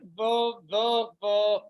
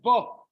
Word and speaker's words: Bo: Like this week's parsha, Parshat Bo. Doesn't it seem grammatically incorrect? Bo doesn't mean go, even though it rhymes bo, go.